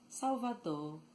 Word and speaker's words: Salvador: The R sometimes sounds very light or weak at word end. It loses its vibration and almost disappears. So instead of saying Salvador, Salvador, or Salvador, they